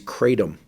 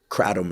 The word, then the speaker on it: kratom: But the kratom leaf, kratom, I think is the way it's the traditional pronunciation, contains a bunch of different plant alkaloids.